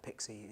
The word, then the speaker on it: PXE: because uh you know the term pixie is the pronunciation for pxe often which is which